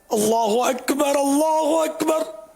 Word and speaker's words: اللہ اکبر: کہ بعض اوقات وہ جیسے کہ اللہ اکبر یہ تلفظ میں نے جو کہے نا یہ درست ہے.